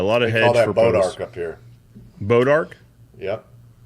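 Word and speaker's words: bois d'arc: town just probably 20 minutes from here called bodark but it's spelled like b-o-i-s apostrophe d e space Arc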